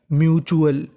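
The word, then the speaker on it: mutual: तो मीनिंग बनी म्यूचुअल।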